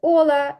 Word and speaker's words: hola: так Вони вітаються через ола А як ола чи Ола ола в іспанській мові наголос падає на склад попередній не на останній а на попередній якщо слово закінчується на